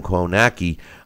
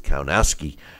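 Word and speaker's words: Kownacki: the ring with Adam Cohn a key and or the way they pronounced is count ASCII and was stopped there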